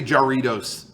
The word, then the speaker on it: Jarritos: And I say Jarritos because that's the true pronunciation.